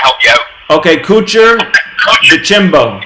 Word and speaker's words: DeChambeau: Okay, Kuchar, DeChambeau. Yeah, Chimbo. DeChambeau. DeChambeau. DeChambeau. DeChambeau. Oh, like champagne.